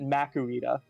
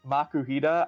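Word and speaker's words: Makuhita: it I pronounce it macarita like a lot of people say makuhida I say makarita why would you do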